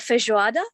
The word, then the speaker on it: feijoada: Like, you know, in Brazil, you have so many, it's called feijoada.